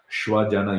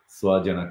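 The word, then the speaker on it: svajana: will differentiate these words instead of saying uh schwa janna you will say swajana correctly wherever it has to be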